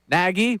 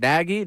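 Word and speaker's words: Nagy: Chicago story that says it's like Peggy but but with an N. I can't go naggy. Naggie. Well, I've heard naggy. Naggie.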